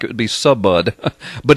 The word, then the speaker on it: Subud: deeply tied to a cult called Subud, and it's spelled S-U-B-U-D. It looks, in English, it would look like it would be Subud, but it's pronounced Subud.